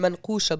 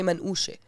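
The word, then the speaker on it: منقوشة: It's written manqusha, but we say manushe.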